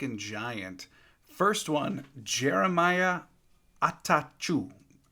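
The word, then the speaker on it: Attaochu: First one, Jeremiah Atachu. Atachu, I think is how you say it. Not going to lie, I had to look up a pronunciation guide on that one.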